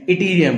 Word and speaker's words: yttrium: Chromium के बाद में इटीरियम, इसका जो स्पेलिंग होता है YTTRIUM होता है, और उसका प्रोनाउंसिएशन इटीरियम होता है।